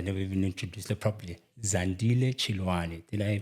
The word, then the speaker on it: Zandile Chiloane: I was I never even introduced the properly zand chani did I pronounce it correctly yes you did thank you